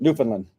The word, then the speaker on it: Newfoundland: How are you pronouncing that? Newfoundland.